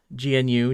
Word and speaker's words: GNU: How would one pronounce GNUIMP? GNUIMP? NUIMP? Oh, NUIMP, yeah. GNU, new.